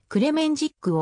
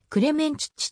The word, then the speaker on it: クレメンチッチ: また日本ではクレメンジックをクレマンシックとカタカナ表記しているのを見かけるはオーストリア人である彼自身をまたオーストリアやドイツイタリア英国の音楽会ヨーロッパ各国のメディアもクレメンチッチと発音しているありがとうございます